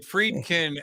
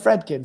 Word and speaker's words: Fredkin: But Friedkin at Caltech, I thought it was. I've the read about him for pronunciation? years. Yeah, I just thought. Well, Joyce said Fredkin, so but. Okay. But anyway, so this was. She's right. She's right. I'm wrong.